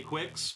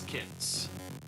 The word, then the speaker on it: Qyx: Dodge those guys yes this game is pronounced kicks a lot of people say Quicks but it is kicks no go away guys